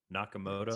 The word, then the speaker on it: Nakamoto: Yeah, Nakamoto.